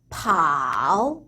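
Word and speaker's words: 跑: P는 프 발음이 난다고 했죠. 그래서 삼성 같이 넣어서 파오 한 번 더 파오 또 한 번 파오라고 하시면 되겠어요.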